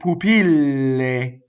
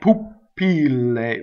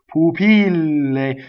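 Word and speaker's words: pupille: thing poopy lay right so double L so this is a good line for double l1 danger is to double the P right poopy lay so if you stop for nation before the pH double P poopy lay so keep the word propelling itself forward and stop on that Double L poopy lay next paddle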